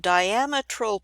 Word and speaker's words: diametral: tooth size is called diametral pitch and I have a note at the bottom here the way we pronounce it it's like the word diameter with an Al L